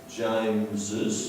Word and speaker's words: James's: James's, so we say James's. Now, because we pronounce the second S, we need to say it.